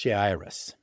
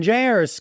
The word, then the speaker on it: Jairus: His name, I believe it's pronounced Jairus, and his daughter is